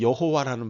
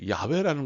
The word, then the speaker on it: 야훼: 그냥 제가 생각할 때는 이걸 틀리게 여호와라는 바람은 완전히 잘못된 발음이고요 그 야훼라는 것도 학자들이 추론을 하는 거예요 그래서 하나님을 야베라고